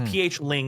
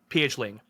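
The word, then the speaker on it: pH0: I found out that zero is pronounced Ling because Ling is the Cambodian word for zero I think so it's pH Ling is the band name pH Ling but it's written like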